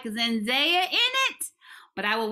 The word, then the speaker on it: Zendaya: your thing all right zendaya you have to say her name like that okay she is so